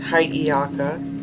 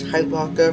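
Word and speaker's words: Hiʻiaka: And hiaka, which I've pronounced which I've mispronounced as hypoca for for like a year now.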